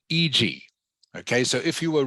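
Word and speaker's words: e.g.: Lin you just say you just pronounce it EG EG um The Rise was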